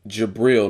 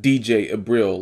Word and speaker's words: Jabril: Is Jabril, not DJ Abril, laugh out loud.